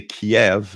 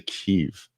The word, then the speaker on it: Kyiv: Verta says Kiev, it is Russian pronunciation. Oh, really? So when it was part of the USSR, they would always say Kiev, and now in the Ukraine, you guys say Kyiv.